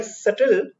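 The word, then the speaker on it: subtle: वैसे इसका मतलब है characterised bye सटल shades of meaning और एक्सप्रेशन। ठीक है, इसका जो ये SUBTL, इसका प्रोनाउंसिएशन सटल होता है, बी साइलेंट है।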